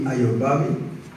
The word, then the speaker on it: Ayobami: My name is Ayobami, pronounced Ayobami, not Obama. This is the opposite of Obama.